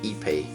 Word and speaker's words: Ipe: this I found that the correct way to say this is EP IPE or Brazilian walnut' yep